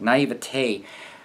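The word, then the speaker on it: naïveté: You know, there's a lot of naivete, there I pronounced it right, naivete on both sides, because there hasn't been any long-term sustained relationship experience on both sides.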